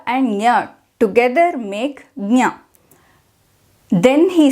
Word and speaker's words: ज्ञ: come to know that it is J plus and is supposed to be pronounced as G now does that mean